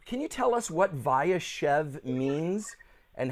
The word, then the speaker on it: Vayeshev: and if you could tell me am i pronouncing this correctly viachev yes that's very good vayashev can you tell us what vayashev means and how it is and he dwelt